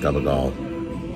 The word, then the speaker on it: gabagool: Okay, so far I'm impressed because they pronounced gabagool correctly. It looks like capicola, like in deli stores, but it's pronounced gabagool the Italian way, and it's a spicy ham, and it's very rare.